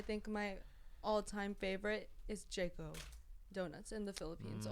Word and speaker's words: J.CO: I will say I love me some Krispy Kreme donuts, but I think my all-time favorite is Jayco donuts in the Philippines Mm.